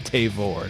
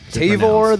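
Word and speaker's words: Tavour: to call customer support make sure you call it tavor that is the only proper way tavor the flavor i will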